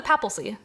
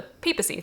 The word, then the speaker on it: papacy: Not the papalcy, the papacy. There's no L.